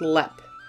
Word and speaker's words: Leap: for today's episode we are hopping across the pond to ireland to discuss haunted lep castle and yes it is spelled like the word leap but it is pronounced lep if you are a